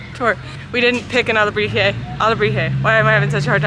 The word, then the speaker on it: alebrije: Alebrije.